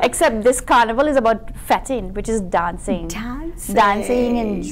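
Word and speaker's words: fete: How do you spell that? Oh gosh. F-E-T-E.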